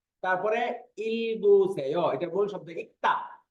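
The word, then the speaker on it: 읽다: করবেন ইক্তা থেকে ইলবুসে প্রথমে এটা শুধু গিউ উচ্চারণ হয়েছে লিউল উচ্চারণ হয় নাই ইক্তা ইক্তা এরপরে যখন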